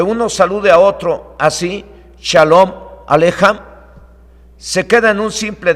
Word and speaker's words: Shalom Aleichem: Y Shalom Aleichem, así se escribe, se pronuncia Shalom Alejam y significa paz a vosotros.